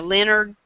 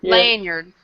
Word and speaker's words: lanyard: come with a um I always say it wrong a Leonard the the neck thing lanard lanyard but I it come